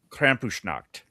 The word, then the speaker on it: Krampusnacht: I don't even know how to pronounce that. Krampusnacht.